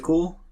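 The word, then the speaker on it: CeWL: can use fantastic tool is called cool but it's spelled differently it's called spelled c WL so that tool why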